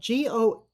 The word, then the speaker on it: gouache: Probably the easiest for me is I'm a great proponent of gouache, which artists will recognize the word. It's a French word spelled Gouache, Gouache, and it's pronounced like a G apostrophe WASH, gouache.